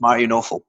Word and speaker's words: Mario Nawfal: It's Mario Nawfal.